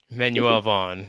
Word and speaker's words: Emmanuelle Vaughan: Let me say it right. Emmanuel. Emmanuel Vaughn. It's French. It's really fancy.